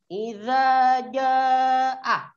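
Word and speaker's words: إِذَا جَاءَ: Di ayat pertama itu ada kalimat idza jaa. Di idza itu panjang bacaannya 2 ketukan atau 2 harokat. Dan di kata ja itu ada 5 ketukan atau 5 harkat.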